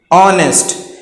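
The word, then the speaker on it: honest: ऑनेस्ट यानी कि ओ की आवाज पहले आ रही है, एच यहां पर साइलेंट है, इस वजह से हम इसको ऑनेस्ट पढ़ रहे हैं।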